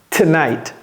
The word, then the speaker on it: tonight: tomorrow même chose ici un T et un S soudé collé donc c'est tonite tonight d'ailleurs le T qui